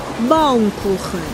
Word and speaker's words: Baumkuchen: Baumkuchen. Baumkuchen. Et ouais, c'est très différent de la prononciation à la japonaise.